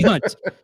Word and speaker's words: Hunte: real quick before we do the intros, is it Hunt or is the E pronounced on the last name? I didn't. A silent E. Silent E. All right, Hunt.